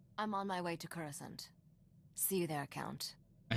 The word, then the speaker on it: Coruscant: Number one is the pronunciation of Coruscant. Like, everybody in the movie says Coruscant. In this game, everyone says Coruscant, Coruscant, Coruscant, Sint instead of Sant. It's a big difference and it annoys me, and probably only me.